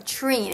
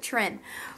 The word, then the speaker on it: Treen: Okay, now this is from Treen. It rhymes green, which I'm glad she said that because I would have pronounced it Trin.